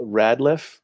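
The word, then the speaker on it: Rateliff: snl last weekend nathaniel radliff is that he pronounced his name he's chat room let me know yeah i think it's rad it's not right yes because our vic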